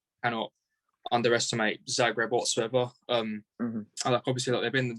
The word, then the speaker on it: Zagreb: It's Zagreb. Croatia's literally next to Montenegro where I live, so yeah, it's Zagreb.